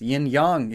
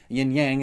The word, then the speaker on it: yin-yang: It's yin-yang, if you're being proper. Yin-yang is just the American-esque way of saying it. I'm an American, so like, either way works. But other than their yin-yang symbolism, they also happen